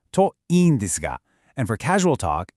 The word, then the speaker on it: といいんです: For your own personal hopes, the phrase you need is to iin desu ka, pronounced to iin desu ka.